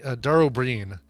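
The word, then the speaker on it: Dara Ó Briain: It's Dara O'Brien, but it's spelled Briain, I think, and it's pronounced. And he is Irish, right? Dara O'Brien.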